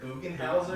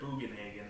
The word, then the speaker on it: Bugenhagen: It was Eric Bugenhauser? No, his name is Eric Bugenhagen.